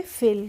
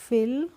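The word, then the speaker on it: fill: करते हैं क्लियर है कभी कभी भी किसी भी वर्ड में आए दो कॉन्सोनेंट के बीच में आई आए तो उसका प्रोनाउंस एशन हमें करना है ए करना है यह भी एक रूल होता है इसका तो एफ आई डबल एल को हम पढ़ेंगे फिल क्या पढ़ेंगे एफ आई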